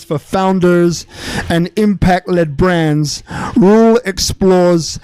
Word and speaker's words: Roel: Rule. Yes. Oh yes. Yes. Yes. Pronounced it right. Rule WT Cruz founder of you remember Voices Unleashed.